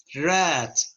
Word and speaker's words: read: bullet drive draw write wrote each ate read read the spelling is the same with the first